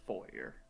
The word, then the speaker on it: foyer: The word is hard, because it's spelled foyer. It's also 18. pronounced foyer.